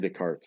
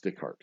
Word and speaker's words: Descartes: know about Descartes Descartes I keep saying the cards it's dick hard because he's French and he doesn't pronounce